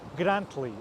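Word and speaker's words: Grantully: and Tuli in pronunciation in English we say grantly or grantly that middle tea often gets dropped because of the glottal stop the glottal stop now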